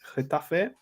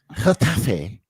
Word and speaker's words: Getafe: 2-0 up against Getafe. Oh, listen! Look! He's got. See that. This is what I mean about him being a posh kid, right? I mean, he's got to see it in a Getafe.